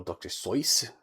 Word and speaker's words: Seuss: These are There are definitely times that uh movie Rex looks like a Who from Dr. Seuss, but uh or Dr. Seuss to pronounce it the way he actually did.